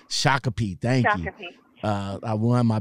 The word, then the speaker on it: Shakopee: I can't pronounce the name. Shakopee.